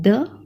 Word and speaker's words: deux: 1 को कहते हैं आ, 2 को कहते हैं द, DEUX है, पर X का प्रोनाउंसिएशन यहाँ पे नहीं होगा, एक्सेप्शन है, तो सिर्फ कहेंगे द.